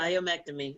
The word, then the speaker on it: myomectomy: And then I've heard that it comes back sometimes, that myomectomy. Am I pronouncing it right? Yes, Yeah. myomectomy. Yep.